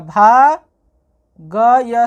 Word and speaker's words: भाग्य: जब इसको पढ़ेंगे तो इसको इसके साथ मिलाएंगे यानी भ आ की मात्रा भा ग भाग और सबसे लास्ट वाली जो वर्ण होगी उसे बिल्कुल अलग से पढ़ेंगे य, इसलिए इसको पढ़ेंगे भाग्य।